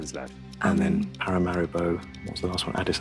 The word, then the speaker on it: Paramaribo: Paramaribo. Para mari bo. Is that one? That is pronounced Paramaribo.